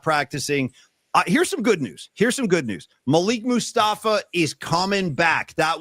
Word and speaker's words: Malik: Paulie, just because I'm a grammar hound and I'm a fan of the English language, I'm a fan of pronunciation. It's Malik.